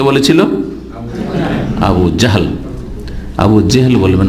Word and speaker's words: আবু জাহল: জি, আমাদের দেশের লোকেরা আবু জেহেল বলে, এমনকি সাধারণ লোকেদের দেখা দেখে আমাদের দেশের বক্তারা ওইরকম ভাবে বলে জেহেল। অন্তত আলেমদেরকে, বক্তাদেরকে শুদ্ধ উচ্চারণ করা উচিত।